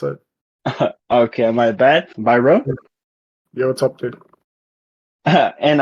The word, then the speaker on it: Bajram: to the CPL uh podcast uh I have bargain right is that correct uh with me today actually it's by Rome that's the way you would pronounce it okay am I bad Byron yo what's up dude and uh welcome to